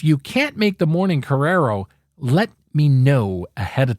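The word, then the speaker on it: korero: It's spelled K-O-R-E-R-O and is pronounced Correro.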